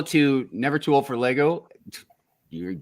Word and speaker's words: Lego: never too old for Lego you're right about that I appreciate you uh what's up everyone just started doing Legos it's Lego not Legos um what I'm like